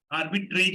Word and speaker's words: arbitrage: आर्बिट्रेज आर्बिट्रेज नहीं, उसको उसका स्पेलिंग होता है ARBITRAGE. आर्बिट्रेज बोलते हैं.